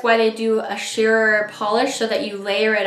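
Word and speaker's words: Pahlish: And I think that's why they do a sheer polish so that you layer it up and you can really see all that gorgeous holo.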